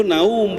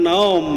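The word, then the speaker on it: نوم: itu saum bukan saum bahasa Arabnya tidur itu naum bukan naom nah gitu ya maka harus yauma gitu Pak ya yauma yakunu Nah, seperti itu, Pak.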